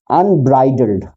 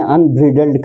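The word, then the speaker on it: unbridled: जो वर्ड था अनब्राइडल्ड, मैंने अनब्रिडल्ड कहा था। ये ब्राइडल्ड होता है ना।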